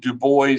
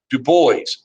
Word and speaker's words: Du Bois: w.e.b du bois and he did pronounce it du bois not like the french word dupois du bois and and i'd like